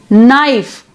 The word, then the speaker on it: knife: Then gnaw, sign, we have GN. Then knife, no, we have KN. Then pneumonia, pneumatic, we have PN. So orthographically we write PN, KN, GN, but we pronounce as single N, that is another sound.